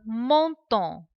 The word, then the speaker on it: menton: Le menton. Menton. Menton. As we have seen the sounds in the previous videos, the sound EN, it is on, and the sound ON also is on. So we say menton.